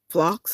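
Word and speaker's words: phlox: Okay, last month we had the pink moon named the the the pink moon um named for the moss pink flocks. I'm going to spell it again.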